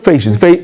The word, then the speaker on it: ফ্যাসিস্ট: সঠিক উচ্চারণটা হচ্ছে ফেসিস্ট।